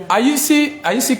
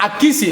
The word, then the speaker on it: Akissi: Aïssi qui là? Aïssi dit Mariette. Comment ça va, Aïssi? Comment ça va? Ok, c'est Akissi. Excuse-moi si j'ai mal prononcé. Akissi.